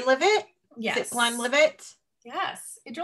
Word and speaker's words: Glenlivet: Glenlivet.